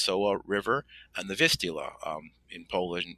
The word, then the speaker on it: Soła: And this first time, the location was on the Soła, the Sola, pronounced Soła River, and the Vistula.